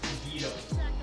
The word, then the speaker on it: Guido: Guidos. Yeah, Guidos. Great Guidos. Guidos. G-I-D-O. It's pronounced Guido.